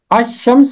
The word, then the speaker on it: الشمس: دو الفاظ ہیں، ایک ہے الشمس اور دوسرا لفظ ہے القمر۔ الشمس کو الشمس پڑھتے ہیں اور القمر کو القمر پڑھا جاتا ہے۔ چونکہ الشمس میں لام کی آواز خاموش رہتی ہے، اس لیے وہ